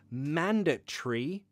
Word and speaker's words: mandatory: countries you might have mandatory pronunciation man duh tree like tree with leaves a green tree it's mandatory mandatory it's